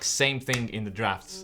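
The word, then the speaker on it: Draughts: popular Cafe in London uh which is called drafts yeah I want to pronounce it draws all the time and I was corrected multiple times yeah somebody decided it's draft so let's say draft all right not only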